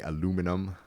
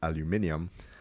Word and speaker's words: aluminium: So Jamaica is one of the top three producers of boxite which is used to make what Americans say aluminum but it should be pronounced aluminium.